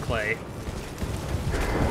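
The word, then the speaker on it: Klee: name is clay chest makes perfect sense for her name to be pronounced clay Checkmate atheists what's in here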